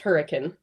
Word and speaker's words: Hurricane: There's the word hurricane is one of the towns here, but it's pronounced hurricane, which actually is a British holdover.